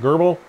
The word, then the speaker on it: GRBL: z1 laser in both laser gerbil sometimes pronounced gerbil laser grbl and light burner coming